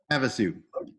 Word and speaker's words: Havasu: downing in Lake Havasu Havasu I mean I never pronounce that out loud I've only heard people pronounce it about you it's have to have a suit have a suit now I know thank you precinct committee